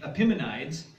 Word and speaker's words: Epimenides: by the name of, there's different ways to pronounce it, but I'll pronounce it Epimenides.